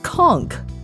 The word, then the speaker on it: conch: So, how did the locals pronounce conch? Well, they pronounced it conchk.